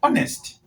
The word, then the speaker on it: honest: The first letter is silent in the pronunciation. The first letter is silent. So when you're pronouncing hour, you say hour. When you're pronouncing honest, you say honest.